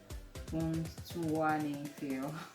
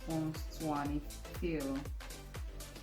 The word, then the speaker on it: Punxsutawney Phil: Punxsutawney Phil. Punxsutawney? Yeah. Punxsutawney Phil. Punxsutawney Phil.